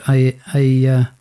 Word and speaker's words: ayahuasca: So DMT is a drug, which it's at its base, it's actually a natural occurring plant-based psychedelic called ayahuasca, if I'm pronouncing that wrong.